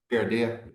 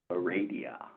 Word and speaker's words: Heredia: Heredia, sorry, I think I said that. Put your emphasis on the wrong syllable.